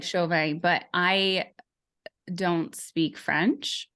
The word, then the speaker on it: Chauvin: Chauvin I'm so happy to have you here you